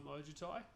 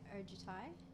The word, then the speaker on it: Ojutai: I'm Ojutai. As you can see, I'm an How do you spell that? almost phonetically now. I think about it. Ojutia. O-J-U-T-I. T-A-I. Sorry. Yeah, Ojutai.